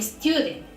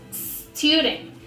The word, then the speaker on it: student: And I used to say, for example, a student, a stop. And it's totally wrong because the word just starts with the letter S. For example, student, stop.